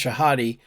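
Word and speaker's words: Shahade: two-time U.S women's champion woman Grandmaster wgm Jennifer shahadi it's pronounced shahadi tweeted about sexual harassment she experienced several years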